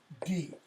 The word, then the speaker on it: Grimmauld: Grimmauld. Pronounce that. Grimmauld. Or Grimmauld Place. It is a grim old place.